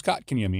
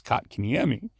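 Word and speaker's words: Kotkaniemi: too yeah but so we all thought it was cot KMI and he told us no coat like coat so he's actually said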